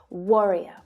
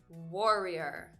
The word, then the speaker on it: warrior: Can you hear the difference in that stressed syllable there? That O sound, the first syllable. And that's actually the same sound that you'll hear in this male name, Roger. And in wrongly as well. So where I pronounce this vowel sound as O, Gabby uses more of an ah sound.